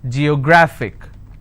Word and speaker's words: geographic: g yo grah fick and the rule says if i have a word ending with ic i need to stress on the second last syllable so i'll pronounce this as geographic if i have another